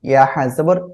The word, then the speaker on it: يحسب: ইয়াহসাবু আন্না, সবাই বলেন। يحسب أن মালাহু আখলাদা, ماله أخلده ওকে, খেয়াল করুন, ইয়াহসাবুর ইয়াহ, হাটাকে গলা চেপে উচ্চারণ করতে হবে আর মুখ থেকে বাতাস বের হবে।